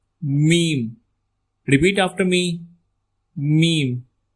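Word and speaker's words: م: The next alphabet is meme. Meme. Repeat after me. Meme. It sounds similar like meme.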